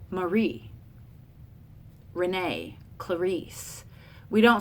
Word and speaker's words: Marie: Clarisse we don't say Marie like oh here's my friend Marie we don't say that we say here's my friend Marie and we put that emphasis on that second syllable trochee with the stressed